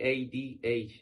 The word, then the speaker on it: Tadhg: So when I first got to know you, I was like, how the fuck would I pronounce that name? Oh, it's simple. It's Tadhg.